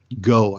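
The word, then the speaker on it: Gough: This came from Pentagon spokesman Susan Go, I think is how you pronounce her name, G-O-U-G-H.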